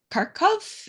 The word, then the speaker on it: Kharkov: You have an American based in, I think, in Kharkov. Is that the right Yes.